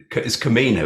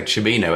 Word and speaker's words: Camino: I keep mispronouncing Camino, isn't it? I keep wanting to say Cimino as in Michael Trevino, the film director.